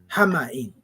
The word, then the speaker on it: حمإ: Hama'in. So this word is spelled H-A-M-A, right?